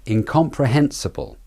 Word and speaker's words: incomprehensible: word incomprehensible incomprehensible incomprehensible the stressed syllables are in com pre and hen the hen being the main stressed syllable the sir and bull are the weak syllables there's a very quick schwa between the B and L bull it's not incomprehensible it's